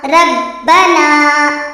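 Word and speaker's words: ربنا: ரப்பனா.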